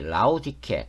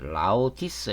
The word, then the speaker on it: 라오디케: 됩니다 비열한 인간이죠 그리고 전 부인인이 라우디케 또는 라우티스 이렇게 발음하기도 하는데이 라우디케어 결합을 시도를 하게